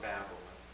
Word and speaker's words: Babel: And the human race is destroyed after the Tower of Babel or Babel. Either pronunciation is acceptable, apparently.